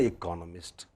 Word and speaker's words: economist: but next word no it is again economist you see ist does not so it is in in a certain sense in english it is rather erratic that is why you